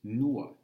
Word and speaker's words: no: Next one is nuo. Nuo. It's spelled N-O. It looks like no on the page, but that's that Latvian ua we talked about.